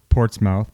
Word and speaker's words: Portsmouth: It's spelled Portsmouth, but it's Portsmouth.